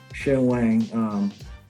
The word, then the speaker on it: Shen Wang: That's how he pronounced his name, Shen Wang. I think he's if you say it the right, if you say it in Mandarin, you'll be Shen Wang. Shen Wang. But he says Shen Wang.